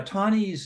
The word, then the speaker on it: Taney: of um Roger Tani now tawny's name is spelled uh t-a-n-e-y um it sounds like Tawny but it's it sounds